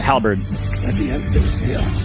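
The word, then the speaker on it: halberd: Halbird.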